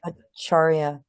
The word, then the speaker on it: Acharya: The C is pronounced CH. Acharya, who was known to